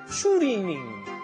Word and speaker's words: 추리닝: The Korean pronunciation is 추리닝.